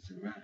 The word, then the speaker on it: Zuri: Now if you say Zuri, you're making it sound like that. The I, it sounds like an E.